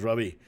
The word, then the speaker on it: Ravi: So he would introduce himself as, my name is Ravi, like ravioli. Okay.